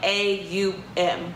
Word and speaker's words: Om: The longer that you do it, it's O-M, but you're going to say it like A-U-M.